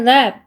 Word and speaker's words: laugh: with 민수 같이 쓰고 I laugh 그래서 GH가 F 발음이에요.